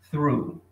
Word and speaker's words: through: Drive through. Bastante foco aqui nesse through. Ó, through. Through. Tá, gente? Aqui nós temos o TH, que é um som único no inglês, tá bom?